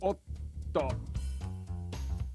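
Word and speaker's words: おっと: lengthen the consonant sound of the hiragana after the small tsu. Like this word, otto. Because that chisai tsu is in there, you just...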